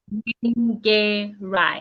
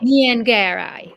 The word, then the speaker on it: Nyengerai: Uh, Take it Nyengerai. in threes. Nyengerai. Nyengerai.